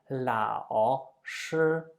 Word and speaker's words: 老师: Therefore, we usually do with the third tone something that we just use half of it. We just pronounce half of the third tone, meaning I let my voice die and it never recovers.